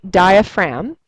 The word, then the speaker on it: diaphragm: And it is spelled diaperum even though you say diaphragm.